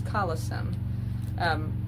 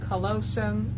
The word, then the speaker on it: callosum: But what brings that together is the next part that is called the corpus callosum. Some say callosum, I say callosum, because that is how that is spelled.